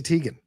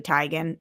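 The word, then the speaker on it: Teigen: Chrissy Tegan. Yeah. When she came out and said it's actually Tyan.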